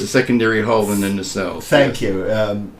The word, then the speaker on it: nacelle: secondary hull and the nacelles. What do you refer to them as? The nacelle, with the emphasis on the second syllable.